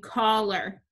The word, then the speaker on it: collar: Which syllable is accented in collar? Collar. The first syllable is accented. Put your accent mark. That means the AR combination says er in this word.